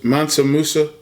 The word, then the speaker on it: Mansa Musa: Mansa Musa.